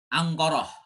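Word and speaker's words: أنقرة: Angkoroh. Nah, ya. Itu orang Arab kalau ngomong Ankara tuh Angkoroh.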